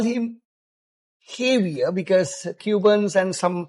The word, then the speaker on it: Javier: I mean slightly spellings and not Javier. Uh we call him heavier because Cubans and some pronunciations J is not pronounced as J right.